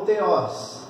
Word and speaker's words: Theos: E se você fizer uma separação, né, o nome dele é a junção de 2 palavras, Timo e Theos, ou Theos, que é o mais correto pronunciar.